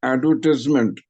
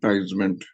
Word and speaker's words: advertisement: face value okay Anil the word advertise is pronounced as advertise or ad tied but advertisement you have to shorten the ties into TS you have to pronounce it as advertisement not tement advertisement tement advertisement advertisement